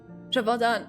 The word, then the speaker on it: Gévaudan: Gévaudan. Okay, thank you. I have the pronunciation now.